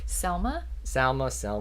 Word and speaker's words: Salma: Is it Salma or Selma? Because Selma is a city in Alabama. Correct, but Salma sounds like salmonella. Salmonella is what it was. Salma Hayek is how it's spelled. I know that's how it's spelled, yes. But I swear, when you listen on TV, people say Selma Hayek.